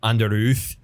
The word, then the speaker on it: Underoath: I think technically, if you're pronouncing it the way their logo looks, it should be like Under Oath.